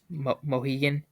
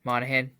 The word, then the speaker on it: Monaghan: Cameron, I'm gonna butcher the last name. Mohegan. Oh yeah, Monaghan.